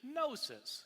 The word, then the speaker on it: gnosis: The Greek word for knowledge is gnosis, spelled with a G, G-N-O-S-I-S.